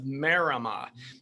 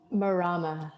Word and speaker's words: Marama: and the founder of marima i want to make sure i pronounce that correct did i get that right marama marama i knew it okay marama and which